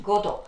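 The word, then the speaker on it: Godot: Please note down the reading pronunciation, Godo. It's not T is silent there, who may or may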